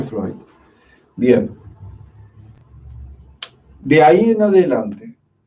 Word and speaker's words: Freud: Freud se escribe así, Freud, se pronuncia Freud.